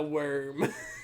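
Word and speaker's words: Wyrm: the worm the worm it's spelled the y w y RM uh the worm so the bird is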